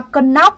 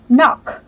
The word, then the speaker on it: knock: Cái này âm ca này là âm câm, cho nên chúng ta chỉ đọc là knock, knock. Được chưa ạ? Không phải là cần knock nữa nhá. Âm ca này là âm câm, không đọc lên.